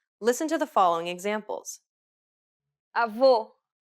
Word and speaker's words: avô: The letters A, E, and O each have an open and closed variant, and many Portuguese words differ only in the openness of the vowel.